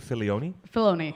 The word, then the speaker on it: Filoni: Filoni, yeah. Yeah, that's how you pronounce it?